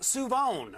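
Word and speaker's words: Shavon: from where I grew up uh Siobhan is pronounced suon so he seemed surprised that I knew it so uh if you see him walking down the street say hey suon what's up and he'll probably be equally a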